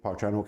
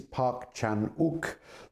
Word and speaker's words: Park Chan-wook: So I think we might start with Park Chan-wook himself. Let's get the name clear first. It is Park Chan-wook. The W is not pronounced. It's one of those quirks of Western orthography.